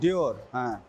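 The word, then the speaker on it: Dior: এখানে একটা ডিওর উচ্চারণই করতে পারতেছি না। অনেক দামি ব্র্যান্ড। এটা বলেন ডিওর।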